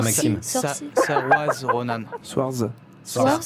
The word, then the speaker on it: Saoirse: Ouais, Saoirse Ronan. mais il faut pas demander à Sorci- Maxime. Sorci- Saoirse Ronan. Swarz. Swartz Saoirse Ah non, Ronan.